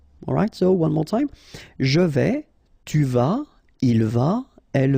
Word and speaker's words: je vais: Je vais, final S not pronounced here, and remember when you combine this A and E together, you get the sound E, so really open. Je vais.